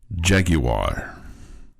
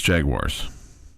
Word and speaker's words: Jaguar: Like if you're in Europe and you have this kind of car and your team is this name, you would say Jaguar. Otherwise, it's Jaguars. Jaguar. That's the refined name of it.